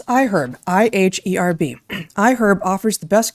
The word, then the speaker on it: iHerb: new to us it's iherb that's i-h-e-r-b and yes that is how it's pronounced even though the word herb is not pronounced with the uh audible H I cannot make me